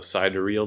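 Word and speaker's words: sidereal: that would be this what they call the side real day I that's how you pronounce it it's a little you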